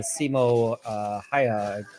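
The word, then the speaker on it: Simo Häyhä: you so much uh the a is pronounced like the a in hand so uh hand ha I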